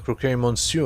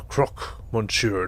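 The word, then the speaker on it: Croque Monsieur: introductions you are the croquet monsieur are you not that's the croc monsieur to you one two people always get the pronunciation wrong okay i'm not really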